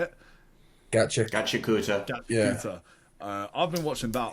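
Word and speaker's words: Gachiakuta: I've been watching Gachikita. Is that how you say it? Gachikuta.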